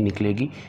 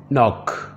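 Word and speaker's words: knock: के की आवाज़ नहीं निकलेगी, ये होगा नी घुटना। ऑफिस दफ्तर। शॉप दुकान को कहते हैं। नॉक खटखटाना या दस्तक देना, इसमें भी के की साउंड जो है वो साइलेंट है, ये होगा नॉक खटखटाना या दस्तक देना।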